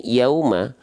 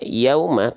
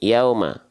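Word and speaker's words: يوم: sesuai dengan kaidahnya ya kalau tidak yang harusnya kita baca kalau kita transliterasi Latinnya seperti ini Yauma ya Ini yang betul ya Yauma kalau engak sempurna nak monyongnya ya maka dia dilafazkan jadi seperti ini Yauma jadi enggak jelas tuh ya Yauma contoh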